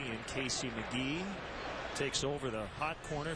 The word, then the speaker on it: McGehee: e h e but it's pronounced mcgee not mcgehee or mcgahee or mcgeehee it's mcgee one and two on